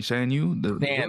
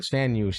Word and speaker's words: Shan Yu: I'm like, you mean Shang Yu? Shan Yu, yeah.